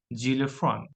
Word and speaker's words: xylophone: Another is X. X pronounced jar here, so its pronunciation is xylophone, xylophone, xylophone.